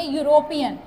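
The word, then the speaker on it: European: यूरोपियन start तो ई से हो रहा है, तो इसे हमें वॉवल में काउंट करना चाहिए था, बट इसकी प्रोनाउंसिएशन ध्यान से सुनिए, यूरोपियन। तो यहाँ पे क्या आ जा रहा है? यू आ जा रहा है।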